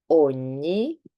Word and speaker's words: ogni: Spanish, for example, you've heard this sound in Spanish, which is the N with the little hat on top. So this is ñ. And we have some examples. Campagna, ogni, Spagna.